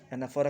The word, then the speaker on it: anaphora: एनाफोरा का spelling ANAPHORA.